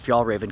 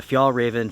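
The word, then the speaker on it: Fjällräven: trousers by the way that is how I pronounce f Raven some people may say F Ren or something or other F Raven is how I've heard it pronounced in the stores even in their own stores you could pronounce it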